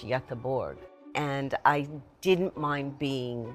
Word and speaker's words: Göteborg: I lived in Gothenburg, but it's pronounced in Swedish, Göteborg.